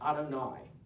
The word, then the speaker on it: Adonai: If we are pronouncing the Hebrew, we will say the name as Adonai, a Hebrew term meaning my great master.